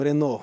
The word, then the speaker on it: Renault: на есть 4 буквы когда читаем renault произносим рено на или бежал в кафе